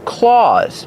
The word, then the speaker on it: claws: Use the aw sound like Santa Claus. That's right, they sound the same.